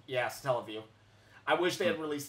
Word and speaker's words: Satellaview: Oh yeah, I call it satellite, but it's how do you pronounce that? Satellaview. Yeah, Satellaview.